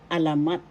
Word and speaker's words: alamat: Another form of Tagalog panitikan literature in Tagalog writing by Bayan in Tagalog is alamat. Alamat. First syllable a, second syllable la, third syllable mat. The third syllable has the accent alamat.